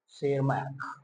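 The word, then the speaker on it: Tschermak: अब आ जाते हैं इसमें ह्यूगो डी बैरिस, ह्यूगो डी बैरिस, और एक आते हैं इवॉन शेरमार्क, इवॉन, टी साइलेंट है ध्यान देना, शेरमैक।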